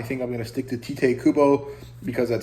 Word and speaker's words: Tite Kubo: of weird to say tight Kubo it doesn't really sound like a Japanese pronunciation uh because usually unless it's in the middle of the word the vowel is pronounced at least that's what